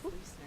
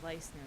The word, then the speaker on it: Leisner: you had it right. It is Leisner. A lot of times it's Leisner that comes out.